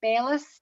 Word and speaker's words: bellis: little daisy-like annual plants called bellis b-e-l-l-i-s that rhymes with trellis they're quite cute and